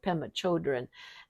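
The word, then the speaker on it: Pema Chödrön: read an awful lot of her name is pemma Shen children that's how you pronounce it pemma children and um she runs a Buddhist uh uh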